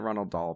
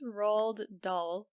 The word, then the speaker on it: Roald Dahl: and he had the Ronald doll books why did you call his name Ronald doll it's Roald Dahl oh that's right no